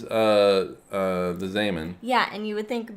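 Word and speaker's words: Zeeman: And is it Zaman? Yeah. You got the pronunciation? Yeah, he's Dutch. Oh, okay, because it's spelled Z-Man. Yeah, it is spelled Zeman, but it is Zaman.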